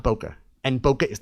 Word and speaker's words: bokeh: Some people say bokeh, some say bouquet, some people say bouquet. I always say bokeh. Somebody's going to tell me I'm wrong. Whatever. It's bokeh.